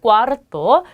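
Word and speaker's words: cuarto: 그 다음에 네 번째는 꽈르토.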